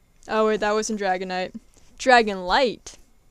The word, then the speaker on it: Dragonlight: Dragonlight. It rhymes with Dragonite. Because the last one's Dragonite.